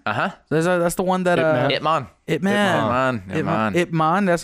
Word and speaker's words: Ip Man: Ip Man. That's how you pronounce it? Uh-huh. Ip Man.